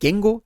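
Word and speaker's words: 言語: Este é Gengo, é assim que se pronuncia, é um padrão Atamadaka.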